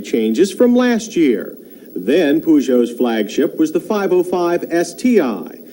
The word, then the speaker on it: Peugeot: The name is Peugeot.